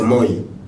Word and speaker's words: moi: Parce que l'eau en lingala est proche du soleil dans la prononciation. L'eau c'est maï, le soleil c'est moi.